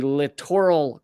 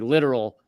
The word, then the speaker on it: littoral: past 20 years, called I guess the correct way to pronounce it is the littoral combat ships, but in order to have a lot of fun with it, I call it the literal combat ships because it's spelled like literal or similar.